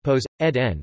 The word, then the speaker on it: Ποσειδῶν: Poseidon, Greek, Poseidon pronounced Poseidon, was one of the 12 Olympians in ancient Greek religion and myth.